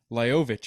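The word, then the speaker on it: Lajović: But I remember when I was watching Andy Murray and Lajovic, Dusan, It's actually pronounced Lajovic, apparently.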